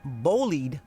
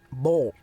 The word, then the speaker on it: boiled: which we refer to in our family as bollied peanuts because Bollied. that's what it said on the sign, B-O-L-I-E-D. And so, Yeah. but in the Carolinas, it is correctly pronounced boll.